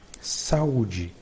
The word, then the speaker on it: saúde: Note that when a syllable has this mark, it will be the tonic syllable of the word.